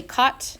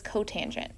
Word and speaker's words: cotangent: this that is cosecant don't say SEC this is secant it has a name don't say cot that is cotangent it's pet peeve of